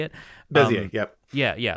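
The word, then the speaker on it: Bézier: And it's pretty similar to, I'm not sure how to pronounce it. I think it's Bezier curves. Is that how you say it? Bezier, yep.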